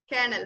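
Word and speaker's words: colonel: സോ ഇവിടെ ആ ഒരു OL, it is completely silent and we read it as kernel.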